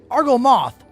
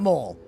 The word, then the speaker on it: Argo Moth: No, Argo Moth, not Mole.